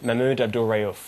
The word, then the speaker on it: Mahmoud Abdul-Rauf: Can you pronounce the player's name for us? Mahmoud Abdul-Rauf.